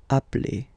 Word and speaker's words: appelle: So when you get this e vowel, and then you get a double consonant, and well, they are the same, then it does change the pronunciation of e. You tend to pronounce it like really open. That's the reason why you pronounce it appel.